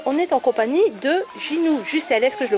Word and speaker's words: Ginou Jussel: Et on est à la FNAC de Belleville, et on est en compagnie de Ginou Jussel. Est-ce que je le prononce bien?